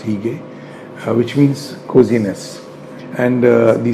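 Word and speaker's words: hygge: he gained its hu GG II but it's pronounced he gay which means coziness and the second term is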